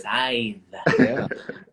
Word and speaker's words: Scythe: Okay, and I love that you pronounced it right. Scythe.